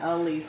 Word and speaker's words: Alisa: Lisa with an A in front. Alisa.